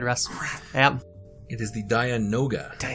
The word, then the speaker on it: Dianoga: because I you know got the that's the pronunciation problem. wrong. It's nope, it's gone. Go ahead, Russ. Yep. It is the Dianoga. Correct. There we go. And I not knew it was. Diagona like I thought it Yeah, was.